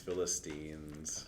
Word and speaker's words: Philistines: Philistines. How did we tell you to remember it, Taylor? Christine. Yes.